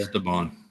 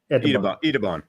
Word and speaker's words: Etaban: Esteban or Etaban. Etaban. The E is pronounced Etaban.